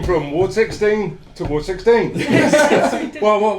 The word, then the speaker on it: Ward XVI: said we are called Ward 16, people going, really? We thought it was Ward XVI.